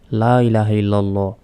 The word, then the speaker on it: লা ইলাহা ইল্লাল্লাহু: অনেকেই এটার উচ্চারণ হবে লা তিন সেকেন্ড টান হবে ইলাহা ইলাহ এখানে এক সেকেন্ড টান হবে লা ইলাহা ইল্লাল্লাহু অনেকে বলি ইল্লাল্লাহু এটা